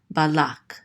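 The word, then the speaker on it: בלק: This is ba, and then the lamed with the kamatz, so this says la, and this kuf closes out this syllable, so it says lak, balak.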